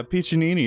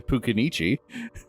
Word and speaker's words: Piccinini: Dr. Piccinini, which I think is how you say that. Yeah, Piccinini is right. It's not something it's Piccinini. I couldn't say it right when we recorded. I defaulted to Pucanichi.